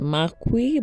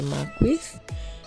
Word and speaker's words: Marquis: been invited for a developers showcase at the Marque by High one I just learned that the correct pronunciation is the Marque or the Maris yeah and I arrived at 430 though the